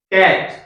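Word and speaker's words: cot: अब इसका उच्चारण देख लीजिए आप, कैट किससे शुरू हो रहा है देखते हैं अभी।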